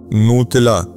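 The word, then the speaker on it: نتيلة: तो very easy to remember आप जैसे आज अभी अगर इंग्लिश में आप प्रोनाउंस करेंगे न्यूटिला बनता है न्यूटिला जो जैसे वो चॉकलेट्स की वो स्प्रेड ओवर मिलता है तो नूतला है उनका नाम असल में और इनसे हजरत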